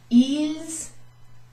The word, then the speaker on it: ils: Ils, I pronounced the S there for a reason.